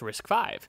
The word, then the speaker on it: RISC-V: So chapter one introduction uh risk 5 pronounced risk 5 is a new instruction